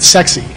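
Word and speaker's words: CEXC: Well, there's an organization called SEXY. This is really how they pronounce it, SEXY.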